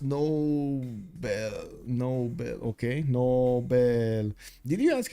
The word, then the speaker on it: Nobel: Alfred Noble, yes. It's pronounced Nobel.